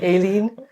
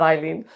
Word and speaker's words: Aileen: My name's actually Aileen, Yeah. not Eileen. I know it's spelled Aileen, but I always thought it was pronounced. No. Eileen is actually E-I-L-E-E-N, and Aileen is A-I-L.